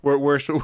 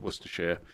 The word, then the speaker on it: Worcestershire: Worcestershire.